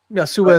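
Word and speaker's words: يسوع: Yasua is how you say Jesus in Arabic in the Christian communities.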